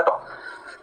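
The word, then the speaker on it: trough: जैसे इनफ की स्पेलिंग होती है वैसे इसकी स्पेलिंग होती है टॉफ। जीएच को क्या बोला था? टॉफ।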